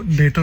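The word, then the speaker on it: debtor: यह मैंने इसको डेटर बोलते हैं।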